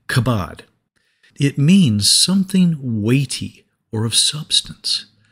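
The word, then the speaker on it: כבוד: In the Old Testament, the word for glory is pronounced something like kabod.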